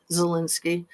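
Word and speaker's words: Zelensky: It's been so long and it's like it sounds like it's Zo or ZA, but it's Ze Zalinski.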